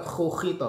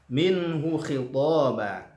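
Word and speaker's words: مِنْهُ خِطَابًا: Lalu hu, yang kedua kha, hu khitaba, bukan hu, bukan hu, bukan khu khita, bukan hu khita, tapi hu khitaba ya, minhu khitaba.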